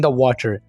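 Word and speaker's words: dough: नहीं बोलना यहां पर हम जी और ह को साइलेंट रखे बोलेंगे डव अगर जब वो गरीब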